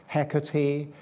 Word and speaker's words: Hecate: I'm talking about tonight comes to us through the ancient Greeks who probably pronounced her Hecate, which nobody speaks of these days. So there's a range of possible pronunciations. Hecati, he even Shakespeare's heck is okay.